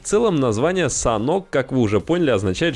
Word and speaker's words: Sanhok: На данный момент разработчики определились с названием карты, произносится оно «Санок».